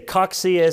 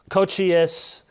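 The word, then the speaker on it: Cocceius: Some say Coxius, some Cochius. So Johannes Coxius, 1603 to 1669.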